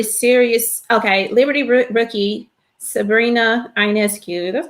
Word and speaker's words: Ionescu: Okay, Liberty rookie Sabrina Ionescu. That's how you pronounce her name.